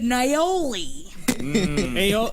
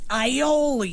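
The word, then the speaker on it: aioli: that's great dip it naoli now you're saying it wrong ioli there it is all right Danny ioli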